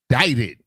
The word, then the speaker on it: indicted: something is not right is there not a c in this word and the C makes the what sound the k sound but yet you're telling me that this word is indicted so in the middle of this word there's a c and it does nothing so this word pause